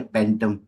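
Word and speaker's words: phantom: के लिए बो सही फैंटम कैसे प्रोनाउंस करते है फैंटम या फैटम फैटम फैंटम एफ की एफ की साउंड आएगी ना प बिल्कुल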